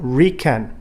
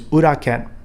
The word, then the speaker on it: uraken: back fist strike now this is the most commonly mispronounced word in waichirou and a real pet peeve of mine it is not recan there is no word like that in japanese it is uraken so let's do that